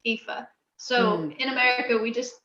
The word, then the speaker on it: Aoife: it's spelled a-o-i-f-e so it does not look on the page phonetically the way it is pronounced fifa so in america we